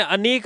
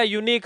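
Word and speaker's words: unique: इस वर्ड को क्या बोला जाता है? यूनिक या अनीक? यूनिक अगर अनीक बोलते हो तब तो एन आएगा और यूनिक बोलोगे तो ए आएगा। अब बताओ इस स्पेलिंग को क्या बोलोगे आप? यूनिक बोला जाएगा।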